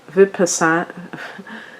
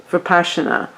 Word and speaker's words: Vipassana: And maybe it's a retreat where, like, I can't say that word, Vipassana, I think it's pronounced, Vipassana retreat, which is that 10 days retreat.